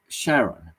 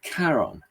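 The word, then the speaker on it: Charon: name of the moon Shaon. and he said if we in Greek that should be Karon and he's right um the name does come from uh from Greek anyway and we should really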